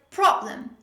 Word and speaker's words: problem: another example the word problem problem pay attention how i pronounce this word the stress is on the first syllable problem another common mistake